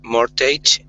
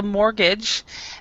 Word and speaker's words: mortgage: and um David um more Tate Public Services no no what okay first of all the this this is called a mortgage the t is silent on this mortgage okay so but does